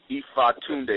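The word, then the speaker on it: Ifatunde: Ifa Tunde, that's my Yoruba name, and it's spelled I-F-A-T-U-N-D-E.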